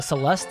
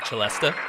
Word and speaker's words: celesta: Is that what this is? A Celesta? Is that wait? Have I been saying it wrong this entire time? No. Is it really a Celesta? Yes, the Celeste is a woman's name.